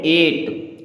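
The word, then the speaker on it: eight: रिक क्या पढ़ेंगे रिक ई आई जी एचटी जी एच एक साथ आया मतलब साइलेंट हो गया इसे पढ़ेंगे एट क्या पढ़ेंगे एट एट मींस होता है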